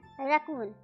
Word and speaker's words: RACCOON: Spelling है RACCOON, रकून। Hindi में बोलते हैं रैकून, रकून कुछ भी बोल सकते हैं आप।